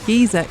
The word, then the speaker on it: geyser: Giza is It is an Icelandic word. And you do say Gizer in Christians.